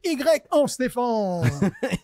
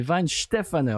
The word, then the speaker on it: Weihenstephaner: Alors en français, ça fait Y en Stéphane. Y en Stéphane. D'accord? Non, c'est Weinstefaner.